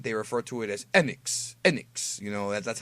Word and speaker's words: Enix: promos in Japan, they refer to it as Enix. Enix. That's how they say it. So it's Enix.